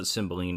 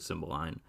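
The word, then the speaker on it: Cymbeline: line I've also cymbaline they call it they pronounce it symboline in this movie I've also heard Simba line this might be one of my actually this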